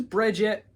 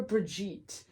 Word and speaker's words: Brigitte: a lot of people is it Bridget or Brigitte I don't like pronunciation I think it's Bridget because she doesn't it's it's not a English word I think it's Bridget I'm gonna go Brigitte because that sounds better Brigitte they have the hammer